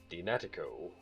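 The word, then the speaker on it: DNAtiCo: Donate Co. Pronounced Dinatico is a DNA testing company.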